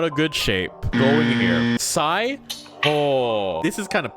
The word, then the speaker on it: Psi: Psi might go here because there's a P and you're like, why the hell is there a P when you're pronouncing it like Psi?